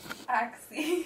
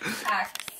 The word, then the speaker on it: Axe: you use what kind axie what the hell is axie Axe it's axe she said why she is axie I said babe it's axe the E is silent is the E silent